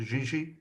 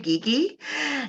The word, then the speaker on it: Gigi: brilliant thanks craig and gigi you're next up i love the way you pronounced it i'll go with gigi gaga gugu it's actually geeky uh my name don't